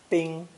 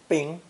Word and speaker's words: 冰: The third character in today's lesson is the ideogram for ice, pronounced first tone, bing, bing.